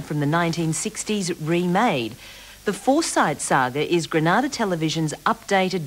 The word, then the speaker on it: Forsyte: spelling and the pronunciation the characters pronounce their name as foresight john goldsworthy's novel is spelled for sight with a t so it does appear to be foresight not forsythe so if you want